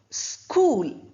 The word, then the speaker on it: school: Bonar H we don't have then we have school. Similarly S and C together school we don't say school her is not there.